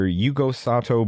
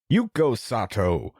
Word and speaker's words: Yugo Sato: with his his character Yugo Sato broken glass um and I I'm I'm pronouncing it wrong they they would pronounce it as you go sat broken glass and I was